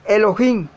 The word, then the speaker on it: Elohim: la palabra dios que le tienen que se pronuncia comúnmente n pero es elohim es más importante este nombre como lo veremos